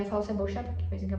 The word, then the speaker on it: cebolla: Eles provavelmente pronunciaria como cebolla, cebolia ou ceboja, cebolla. Mas a onde eu morei eles são cebocha em Buenos Aires eles falam secha, certo?